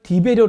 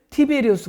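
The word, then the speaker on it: Tiberius: 보면은 딥 의료가 이 사람 말이 나오는데 우리나라 발음으로는 d 배려 라고 했지만 원래 발음은 티베리우스 가 되겠습니다 옥타비아누스 황제 두 번째 로 되어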